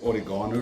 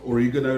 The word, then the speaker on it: oregano: Oregano or oregano like I say, but oregano like the Americans say, and basil or basil.